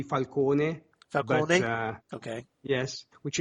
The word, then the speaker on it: Falcone: course, as Carmine Falcone, or Falcone, depending on your pronunciation. Yes. But I always preferred Falcone, but that's me. That's actually closer to the Italian, if you will, because the Italian would be Falcone.